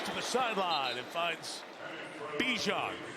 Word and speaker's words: Bijan: So you keep hearing say Bijan Robinson, right?